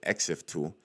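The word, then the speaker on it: ExifTool: know that the answer to this will be X fill tool um what's actually uh except tool that's how you pronounce it exif tool because I've used this in another one of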